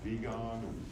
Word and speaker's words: Wiegand: I think was Conrad Wiegand, Wiegand. And I think that's how you pronounce it in German. Wiegand is W-I-E, so I think it's Wiegand or Wiegand.